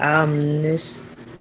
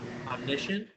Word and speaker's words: omniscient: type of third person um and then like ominous what how you pronounce it omniscient yes that is absolutely right that is absolutely